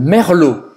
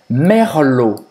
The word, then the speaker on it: Merlot: Tem le Merlot. Então, a pronúncia merlot.